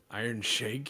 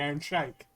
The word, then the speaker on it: Iron Sheik: I would have gone for the Iron Sheik. Iron Shake, you mean? Nah, the Iron Sheik.